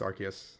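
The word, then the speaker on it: Arceus: man like ligma balls I've heard that it's been pronounced both ways in the anime so no it's archus that's correct really yeah uh if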